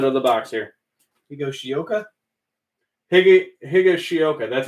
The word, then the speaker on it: Higashioka: Higashioka. That's how you say it. You're right. Alex Wood, Jake Newberry, Jeffrey Rodriguez, and Aaron Judge. Well, you got Bryant, Lux, Aquino, and Darren Jeter. Higashioka.